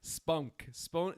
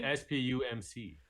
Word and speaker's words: SPUMC: No, you wouldn't say spunk. Well, it sounds like you're saying an N rather than an M. Because it's hard to pronounce the difference. It's the SPUMC. You would just say SPUMC. You might, but either way, no one ever says spunk.